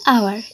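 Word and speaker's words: hour: তো এন আওয়ার, এখানেও কিন্তু আমরা এই যে এইচটাকে বাদ দিয়ে ও এর উচ্চারণ করি, তাই ও এর উচ্চারণ হচ্ছে একটা স্বরবর্ণের উচ্চারণ, তাই এখানে আমরা এন ব্যবহার করেছি।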